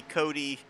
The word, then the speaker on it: Cody: Of course, we've got the Wiley Cody tribute. Yes, that's actually how his last name is pronounced. I've been mispronouncing it all this time.